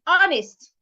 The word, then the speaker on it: honest: Another word is honest. The king is honest. The H in that word is silent.